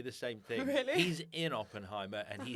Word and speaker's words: Oppenheimer: day it's Barbie and Oppenheimer Oppenheimer I don't know if I'm saying that right you are saying it right but they're coming out